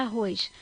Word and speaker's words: arroz: Vamos chamar a palavra arroz. Arroz! Então, é arroz. Se é arroz, então é a última sílaba.